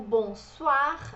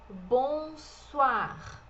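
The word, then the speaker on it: bonsoir: português Bonjour Bonjour e o bom Soar a gente tem esse oi em francês tensão de o ar bom suar falamos leg também bom suar o Bonjour ele é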